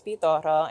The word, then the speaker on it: Pitorro: PTOro. Help me help me pronounce that. Spell it for me. P I T O R R O. So, I'm rolling my R, but if you don't roll the R, it's PTO.